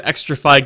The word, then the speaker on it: Xtrfy: I'm saying it's fucking Extrafy Gaming. I don't fucking know. It's spelled XTRFY.